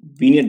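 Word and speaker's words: vignette: वीनियट बोलते हैं इसको, वीनियट, जी साइलेंट होता है इसमें।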